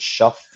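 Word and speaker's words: Shough: I I think uh their quarterback that is now their franchise guy, Tyler, how do you pronounce it? Shuff or Shuck.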